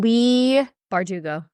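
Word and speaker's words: Leigh Bardugo: Lee Bardugo.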